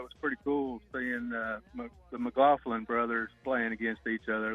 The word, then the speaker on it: McLaughlin: pretty cool seeing the McLaughlin brothers playing against each other last night. Yeah. Is that how you say their last name? That is how you say it.